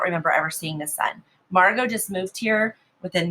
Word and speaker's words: Margot: except for one named margot and that's how you say her name even though there's a t on the end it's silent they had all grown